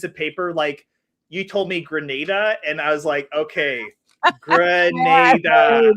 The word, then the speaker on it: Grenada: You told me Grenada, and I was okay. Grenada. Okay, phonetically it's on there.